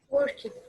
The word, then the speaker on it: worked: So this verb is going to be like worked. The ed is going to be pronounced like t.